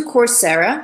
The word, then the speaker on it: Coursera: So if you are interested in that, go to Coursera. So it's spelled Coursera, Coursera, like course, but Sarah.